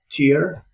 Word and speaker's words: Tyr: I always have problems how to pronounce it. yep, Tyr, Tyr, Tyr Stray.